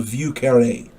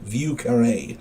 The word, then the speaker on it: Vieux Carré: It's also called the Vieux Carré. I believe that's how it's pronounced. Vieuxcarre, and the accent is on that last E. Vieux Carré, I believe it's called.